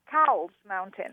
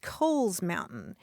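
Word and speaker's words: Cowles Mountain: I would pronounce it cow's mountain right right I know and that's that's my problem because properly that mountain is pronounced Kohl's Mountain it was named for a guy whose last name is Kohl's and in fact if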